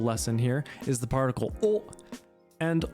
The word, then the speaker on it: を: That being said, the pronunciation is pretty much the exact same as just a standard o.